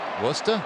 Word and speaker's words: Worcester: 114 games at Worcester. Hit .269. You don't want to say it like a native. Worcester? It's the final one. Not there, Worcester.